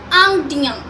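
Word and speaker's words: indiens: The pronunciation of this word is Angdian, Angdian.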